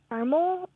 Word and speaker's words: caramel: was only three yeah that first cable can be care c car the last cable can be male Mill or male and that middle Sy can either be uh or not pronounced and so mix them